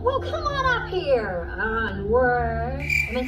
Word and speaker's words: ennui: It's Ennui. It's what you would call the boredom. Well, come on up here. Ennui.